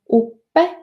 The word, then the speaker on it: uppe: The same occurs with plosives and fricatives located between two short vowels, as in uppe or river, and palatalized dental thrill,